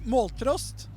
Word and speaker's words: Måltrost: Måltrost. Can you pronounce that? Wait, say it again. Måltrost. Moltrost.